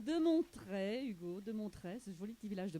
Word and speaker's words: Montret: ne seraient pas de mon trait je prononce donc bien le T que pouvez-vous leur dire